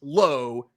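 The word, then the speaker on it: Lowe: sure I'm sorry now Josh is pronounced low it's Josh low Brandon La God that's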